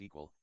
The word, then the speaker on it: EQL: EQL pronounced as equal and it's an acronym for event query language.